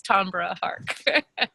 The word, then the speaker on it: Tambra Harck: extra special bonus points if you pronounce it beautifully like Renee did today which is Tom Hart and before she gives